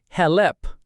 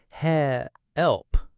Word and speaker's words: help: It's not help with a light clear L, it's help. Help. The back of the tongue tenses for the L.